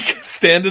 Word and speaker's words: Standin': Don't pronounce the G. The G is silent.